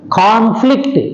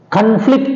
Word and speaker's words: conflict: all the two syllable verbs take stress on the second syllable but there is a